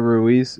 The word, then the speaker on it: Ruiz: Ruiz? R-U-I-Z? Yeah, Cesar Ruiz.